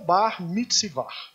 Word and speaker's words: Bar Mitzvah: Assim eles pronunciam. O que é o Bar Mitzvah?